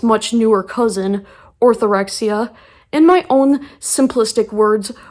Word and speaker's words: orthorexia: people have heard of it's called orthorexia and although it Rhymes it's not the same as anorexia which I'm going to